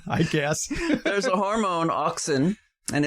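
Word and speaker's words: auxin: know why sure I guess there's a hormone oxin and it's produced primarily in in buds in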